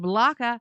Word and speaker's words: Blacha: Tommy Blacha, pronounced Blaka, was hilarious.